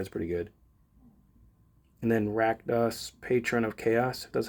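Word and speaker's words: Rakdos: And then Rackdos, Patron of Chaos. That's how you pronounce that word.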